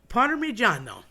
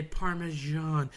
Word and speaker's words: Parmigiano: But people tend to say Parmesan. Well, that je sound is French, so just throw it out the window because a double G or a double Z or any kind of double consonant, a doppia, if you will, a double, in Italian is meant to be stressed and accented. So not changed, switched, and run away from.